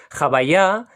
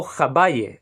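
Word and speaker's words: הוי״ה: el que estáis viendo en pantalla, que se pronuncia en hebreo como Jabayá y en yiddish como Jabaye.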